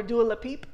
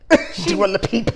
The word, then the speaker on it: Dua Lipa: Dua Lipa makes an appearance as Mermaid Barbie, or as Wendy Williams affectionately called her, Dua Lipeep. Dua Lipa.